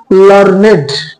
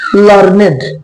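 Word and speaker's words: learned: শিক্ষিত এরকম এর সিনোনিম লার্নেড উচ্চারণটা লার্ন নয় লার্নেড বেসিক ক্লাসে ডিফারেন্স বুঝিয়ে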